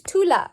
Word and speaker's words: Tula: is Tula okay Tula which one is stress is it the tomb or the LA one more time listen to LA okay so the stress syllable is Thu Thu so you circle that and not LA so you listen and